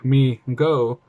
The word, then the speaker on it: Mego: opening well overwhelming demand migo pronounced me go corp was started by